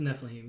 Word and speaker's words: Nephilim: It's a Nephilim, yeah.